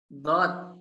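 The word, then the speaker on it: ضاد: Kenapa harus ada d-nya? Karena huruf dal ini merupakan salah satu dari huruf qalqalah yang haknya adalah mantul kembali.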